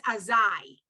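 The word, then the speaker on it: אזי: in place of that, instead of that yud, if you had an aleph where my pointer is there, it would be azah. But because you have a yud, it's azai. So you are pronouncing the yud in that.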